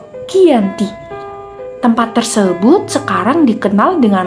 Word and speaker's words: Giyanti: penandatanganan perjanjian ini yaitu di desa Janti dalam pelafalan Belanda disebut Giyanti tempat tersebut sekarang dikenal